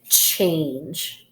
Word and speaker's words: change: word for a minute what do you notice at the end of this word hmm so what syllable type is this yes it's a silent e syllable so this is one